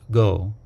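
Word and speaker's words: 御: Sometimes we will say O Daimoku instead of simply Daimoku. The first character, O, in this word is an honorific. It is sometimes pronounced Go.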